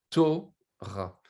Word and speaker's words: Torah: Maintenant, si le vav disparaît, on doit mettre un cholam autour et on doit prononcer Torah.